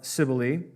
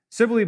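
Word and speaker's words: Cybele: So those are the priests of Sibily. Sibily, by the way, is spelled with a C. C YB L.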